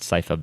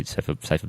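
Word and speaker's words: Sypha: or as uh cipa which I now know is pronounced cipa Bel belnades I I say cyha belnades because I was 10 um and uh or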